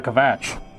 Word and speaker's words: Kvatch: It's supposed to pronounce Kvatch. But it's a V. Kvatch.